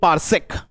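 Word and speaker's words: parsec: तो लिखिए पारसेक, हमें वही नहीं, इसको पारसेक ही बोलेंगे, इसकी स्पेलिंग होती है पारसेक, ये पारसेक।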